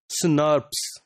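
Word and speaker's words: snRNP: ribonuclear proteins SN rnp or normally they are pronounced as snars these this spos is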